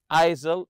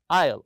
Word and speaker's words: aisle: aisle seat and remember Isle with a silent s here don't read it isil it's Isle the S is silent also this is the